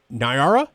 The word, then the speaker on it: Niara: Next up from Centerville, we have Nara. Is that how it's pronounced? Yeah, Nara.